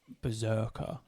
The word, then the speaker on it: Brzrkr: Berserker. It's spelled Brzrkr.